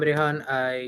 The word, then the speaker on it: Rehan: I'm Rehan. You can pronounce it as Rehan or maybe if that's what you prefer.